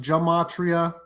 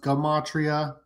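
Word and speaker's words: gematria: Uh it's not pronounced jamatria. It's actually pronounced gumatria.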